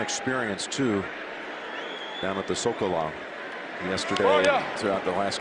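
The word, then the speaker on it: Zócalo: Sokolow. Is that with the S or is it? It's spelled with a Z, but we say it with an S now.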